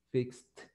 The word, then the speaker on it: fixed: Si usted dice fix, no tiene vibración. Entonces, fixed.